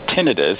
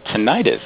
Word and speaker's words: tinnitus: So if you look in the dictionary, both are phonetically correct, mm-hmm. But if you talk to a health professional or a researcher, they will always say tinnitus because the itis implies inflammation. So bursitis, tendonitis, things like